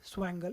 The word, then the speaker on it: swangle: software rendering report uh they call it they spell it as swangle s sw s sw w a ng gl it's a combination of swift shader project and angle project uh I hope it